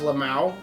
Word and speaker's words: LMAO: LMAO, it's pronounced Lamau if you want to be cool about it.